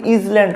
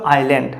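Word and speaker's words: island: only কেবলমাত্র a little একটি ছোট্ট আইল্যান্ড মানে দ্বীপ আইল্যান্ড এটার উচ্চারণ কিন্তু ইজল্যান্ড হবে না আই এস এল এ এন ডি এ ধর এটার উচ্চারণ কিন্তু ইজল্যান্ড হবে না এর উচ্চারণ কি হবে আইল্যান্ড আইল্যান্ড মানে কি দ্বীপ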